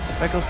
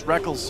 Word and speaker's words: Rekkles: Technically, it is written Rekkles. Yeah. It is. You spell it phonetically. All the way back in his first major tournament, IPL 5, the Rekkles and Rekkles debate was in full swing. I still want to call him Rekkles, but I've just gotten so used to calling him Reckless because he says so.